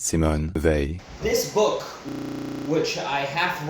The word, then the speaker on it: Simone Weil: This name is pronounced Simone Weil. The A sound in French doesn't exactly exist in English, but it's pretty close to the A sound, as in to pay, so it's Simone Weil.